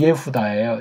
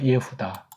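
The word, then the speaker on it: יהודה: 세계를 장악했다고 보는 거예요 이게 이제 구약 발음으로 치면 예후다예요 예후다 이걸 미국말로 주 또는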